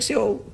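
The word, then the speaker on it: Seoul: like this is like Soul so is it like SE is that is how you say soul I like to say SE no one will understand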